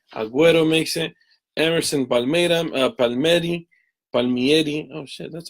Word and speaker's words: Palmieri: Emerson Palmieri Palmieri.